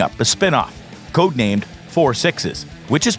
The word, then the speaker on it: 6666: he was wrangling up a spin-off code named 4 sixes which is pronounced as 4 sixes not 666 6 or 6666 this tail is set on the